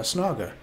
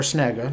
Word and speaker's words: Snaga: carries an axe right he carries uh snogger uh or snaga depending on which audiobook you listen to but as i understand it the man himself pronounced it snogger so that's that's what we'll go with um but then